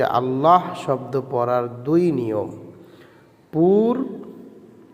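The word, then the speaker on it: الله: আল্লাহ শব্দ পড়ার নিয়ম। আল্লাহ শব্দটা কিভাবে পড়িতে হয়? এটা খুব গুরুত্বপূর্ণ একটা ছবক। দুইটা ছবক আসবে যে আল্লাহ শব্দ পড়ার দুই নিয়ম।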